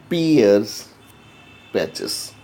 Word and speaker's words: Peyer's patches: Now Peyer's patches, how to pronounce this? Peyer's patches.